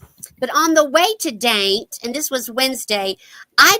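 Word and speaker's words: Dante: Randy started talking last year that he wanted to go to a little town called Daint. It's D A N T E, but you say it like paint. Daint, Virginia.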